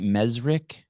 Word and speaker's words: Mezrich: And now, before I forget this, Ben, am I pronouncing your last name right? Mesrick? Yes, that is correct.